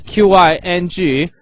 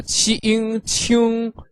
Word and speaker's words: 请: For the pinyin, it is Qing, so Q pronounced qi in Chinese pinyin. Ing pronounced ing, altogether qing qing, with the third tone, which is like a V shape, going from up to down and then up a bit.